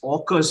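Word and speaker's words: AUKUS: that is called a u k u s orcas if you uh pronounce it a stands for australia uk stands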